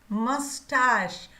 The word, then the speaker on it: mustache: मस्टाश, मस्टाश, ये याद रखना है प्रोनाउंसिएशन।